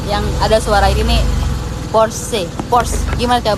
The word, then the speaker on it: Porsche: Porsche. Gimana cara bacanya? Porsche.